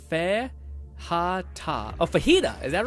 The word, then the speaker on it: fajita: Lord says Fajita is pronounced Fe-ha-ta.